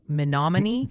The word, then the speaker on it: Menominee: Oh, and the pronunciation posse is gently suggesting Nevada, Iowa is Nevada, and Menominee is more like Menominee, just FYI.